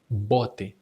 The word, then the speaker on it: bote: When the B occurs at the beginning of a word, you just say it strong. Bote, just as in English.